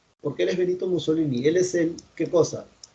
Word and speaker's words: Mussolini: ¿Esto cómo se pronuncia? Porque él es Benito Mussolini.